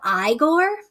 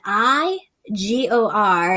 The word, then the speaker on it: Igor: and grow this pumpkin this year it's called igor um i g-o-r and you would think oh that's igor nope